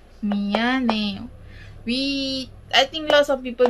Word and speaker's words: 미안해요: So the first word of the day is미안해요, 미안해요.